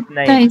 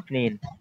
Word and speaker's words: اثنين: মূল উচ্চারণ ستة ইসনাইন, কিন্তু اثنين ইসনাইন ওরা বলে না, ওরা বলে اثنين ইসনিন। আমরা ওদের মতো তাসহিল নিয়ে নিলাম, এটাকে বলে তাসহিল আর কি, উচ্চারণ সহজের জন্য মূল গঠন চেঞ্জ করে ফেলি।